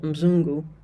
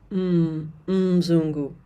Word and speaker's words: Mzungu: So for example, Muzungu, many beginners will say Muzungu. If you do that, people are definitely going to know that you don't know KiSwahili. So it's Mzungu, Marekani.